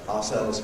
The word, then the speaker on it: ourselves: But ourselves has two strong vowels. You can say with our, or usually we say ourselves, by ourselves.